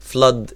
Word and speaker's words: flood: و flood ال O هنا O هنا short sound مش long sound، مش flowed ولا الكلام ده، لا هي flood too much water.